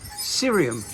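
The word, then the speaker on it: Ksyrium: mavic wheels of mine it's sirium that's how you pronounce the name it's a mavic cerium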